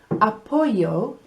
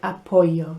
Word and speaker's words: apoyo: Me gusta apoyo. Apoyo, the word, it's like Apollo, isn't it? The space mission, el espacio. So apoyo is support. It's spelt with a Y actually, not with a double L.